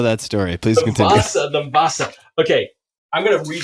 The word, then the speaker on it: Vasa: W-A-S-A, Vasa, the Vasa. And it starts with a V. V-A-S-S-A? No. Did I say that? No, W-A-S-A. Definitely don't know that story. Please continue. The Vasa.